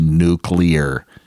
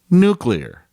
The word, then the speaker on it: nuclear: it's spelled n-u-c-l-e-a-art pronounced nuclear take the word clear c-l-e-a-r and put n u in front of it nuclear not nuclear nuclear I